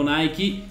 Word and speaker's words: Nike: Lo dico come lo pronunciano in America, dove c'è la Nike, dove esiste l'azienda e loro la chiamano così.